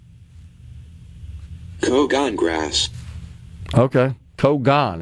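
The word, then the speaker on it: cogon: Kogan is the way they pronounce it here in this pronunciation little helper. Which goes back to the pronunciation helper we got on the text line that said pronounce it like proton.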